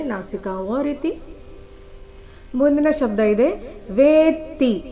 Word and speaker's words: ವೇತ್ತಿ: ರೀತಿ ಮುಂದಿನ ಶಬ್ದ ಇದೆ ವೇತಿ ಇಲ್ಲಿ ವೇತಿ ಅಂತ ಇಲ್ಲ ವೇತಿ ವೇ ದೀರ್ಘ ನಂತರ ತ ಕ್ಕೆ ತದ ಒತ್ತು ಕಶ್ಚಿನ್ಮಾವೇ ತತ್ವತಃ ನೋಡೋಣ ಪೂರ್ತಿ ಶ್ಲೋಕ